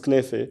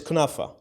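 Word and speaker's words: كنافة: A lot of people will make fun of how we pronounce words in Lebanese, but it's knefe. How we pronounce it is knefe. But that's the Lebanese version, it's knefe. The Lebanese word. But if I'm in Jordan, it's kunafa.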